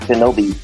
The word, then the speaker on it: Shinobi: Ode to the Ancient Ninja, which is the Onyomi, not to be confused with Tsunami in the native Kunyomi, but is pronounced Shinobi, shortened from the form Shinobi no Mono.